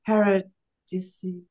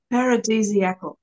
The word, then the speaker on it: paradisiacal: In general, they may be described as 1, Havonal, 2, paradisiacal. No, how do you say that? Paradisiacal. Paradisiacal. Like aphrodisiacal, similar.